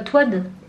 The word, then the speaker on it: Toad: Toad, pas Toad. Si, il s'appelle Toad. Non, ça s'écrit Toad, mais ça se dit Toad.